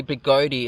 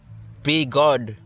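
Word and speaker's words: Begode: pronouncing it wrong so it's not really big goatee it's be god i don't know big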